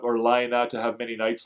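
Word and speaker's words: Laine: can tell me antie I think it the proper PR pronunciation of his name is actually Lina is that is that correct um that it's not l or l it's Lina I find it hard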